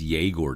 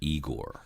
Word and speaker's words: Yegor: into this equation, where Yegor Zamula is going to fit into the situation. By the way, it's Yegor now. It's not Igor.